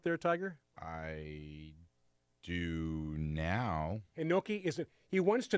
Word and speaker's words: Hinoki: He picked up a fern-leaf Japanese Hanoki Cyprus and wants to know about that particular species. Oh, okay. And I hope I'm pronouncing that right. Hinoki?